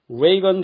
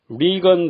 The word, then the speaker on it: 레이건: 1981년 초 레이건 대통령이 당선되자 한국의 온 언론에서는 리건 대통령 하다가 며칠 지나고 나서야 레이건이라고 멋쩍게 정정했습니다.